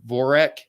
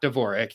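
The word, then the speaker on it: Dvořák: card um and David voreck not Dvorak David vorick there's no D you don't pronounce the d at least uh versus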